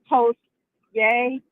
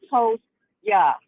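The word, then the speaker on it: Toast-Yay: Scout cookie yah uh toast yay toast yay actually it's actually toast yah like you're toasting somebody you're toasting somebody and say I'll toast you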